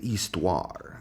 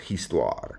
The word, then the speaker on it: histoire: In fact, instead of history, maybe I should say histoire. That's how you say history en français. It looks like history, but it's pronounced histoire.